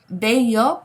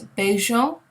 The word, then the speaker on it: bello: So remember, the double L in Spanish is pronounced as a Y, okay, the Y sound.